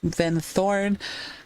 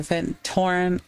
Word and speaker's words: Vin Thorn: And that's like, by the way, my game is pronounced Vin Thorn. A lot of people mistake it for Vin Torn.